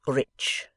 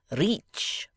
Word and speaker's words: rich: Our English adverbs do not terminate in mong, and we pronounce the ch as if there were a t before it. We say rich. Reach, remarked the foreign gentleman.